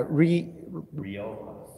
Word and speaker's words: Riojas: yeah, Riojas. Riojas. In Spanish? Riojas. There's a general rule in Spanish, you pronounce every letter, not like English.